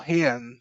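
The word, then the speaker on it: Rayan: young players, Ryan or Hian. Um, you know, I I still can't say it properly. The Rs are pronounced as H's, aren't they, in Brazil?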